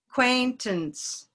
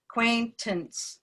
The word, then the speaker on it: acquaintance: okay and then what acquaintance and that a doesn't get much time it's not quaint ants acquaintance it's almost not even a it's a schwa acquaintance acquaintance then what